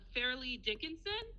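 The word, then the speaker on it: Fairleigh Dickinson: So, it's spelled like fair. F A I R. And then Lee. L E I G H. L E I G. Yeah. And then Dickinson like Emily Dickinson.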